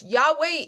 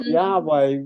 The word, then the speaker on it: Yahweh: Yahweh is what historians think the vowels are. We have no proof that that's how you say it, but that is those are the consonants that we are given.